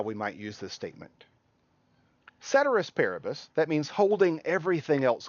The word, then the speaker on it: ceteris paribus: repeat it with me ceteris paribus some people will pronounce this latin phrase cater asparagus Latins a dead language we don't know how they pronounced it but most people will pronounce this ceteris paribus sometimes we'll call this